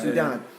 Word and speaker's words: saudade: Saudade. There are many pronunciations.